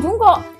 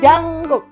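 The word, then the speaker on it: Jungkook: punyanya jangk J Jang bacanya bukan jungkok jangk jungk yang mana No jungk Bukan jungkuk kah jangkuk jungk bacanya jangkuk jangkuk itu artis yang lagi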